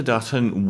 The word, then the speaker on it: Dutton: I love the fact that Dutton rhymes with button.